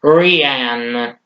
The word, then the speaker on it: Rian Johnson: I thought it was Ryan. I think it's Rian Johnson, who I believe.